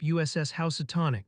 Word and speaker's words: USS Housatonic: Out on the water, the Union warship USS Housatonic, pronounced Housatonic, sat at anchor as part of the blockade.